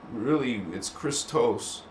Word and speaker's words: Christos: This word is not Christ. It's Christos.